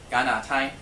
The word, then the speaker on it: 加拿大: as a 加, but if you go back to the Hakka, then it becomes a ga sound, just like very similar to the English.